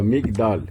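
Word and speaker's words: מגדל: Se está fechando, não é pronunciado.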